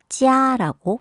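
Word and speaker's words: jia: 네, J-I-A로 표기가 되죠. 그러면 소리는 찌아라고 소리를 냅니다.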